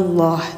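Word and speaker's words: الله: Baik, untuk teman-teman 24 sudah selesai ya cara baca lafaz Allah yang dibaca tebal, yaitu ketika didahului harokat doma dan didahului harokat fathah, maka nanti bunyi lam yang ada pada lafaz Allah dibacanya tebal, bunyinya Allah gitu ya.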